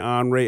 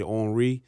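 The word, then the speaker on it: Henri: Well, that's my name, Anre. It's actually spelled H E N R I. The H is silent. Um in French they say or French they say Henry.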